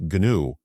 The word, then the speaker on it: GNU: to call it Project GNU, spelled GNU. And you pronounce the G so people know it's there.